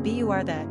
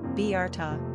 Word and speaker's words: Bertha: Pronunciation, Bertha, English, Bertha, German. Simple meaning, the bright one.